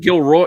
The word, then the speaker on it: Gilroy: No, Gilrod Jr. You mean Gilroy? You gotta goddamn pronounce this shit right. Gilroy. Sorry, yeah, Gilroy.